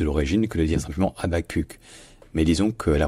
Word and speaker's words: Habaquq: Donc dites Habakkuk si vous voulez, ce sera sans doute un peu plus proche de l'origine que de dire simplement Habakkuk.